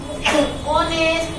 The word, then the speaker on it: honest: ऐसे ही यहाँ देखो, he is an honest man। इसको हम क्या बोलेंगे? honest। क्या बोलेंगे? honest। वो नहीं बोलेंगे, HONEST। an honest man ऐसा बोलेंगे। तो H क्या हुआ? साइलेंट हुआ।